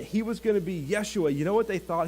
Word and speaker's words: Yeshua: you guys realize that we actually called Jesus's name wrong every single time we call him Jesus should we all just take a nap right now can you hear me okay good his name was actually Yeshua which is translated Joshua